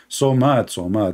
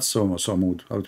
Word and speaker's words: Somad: Somad, not Samud. What the heck, Samud? You made the guy Samud? He's Somad. So mad.